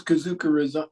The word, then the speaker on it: Kazuka: is Ken kazuka and because kazuka rhymes with bazooka um he became bazooka